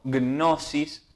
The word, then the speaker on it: Gnosis: Vamos a ver ahora un primer fragmento elegido de un documental que se lo puede encontrar como Gnosis, se escribe así, la G, Gnosis, significa conocimiento, que dice Gnosis, el cristianismo esotérico.